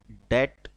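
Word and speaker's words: debt: डेट, कर्ज, इसमें बी जो है वो साइलेंट है।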